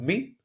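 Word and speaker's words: μι: Okay, it is called me like moon.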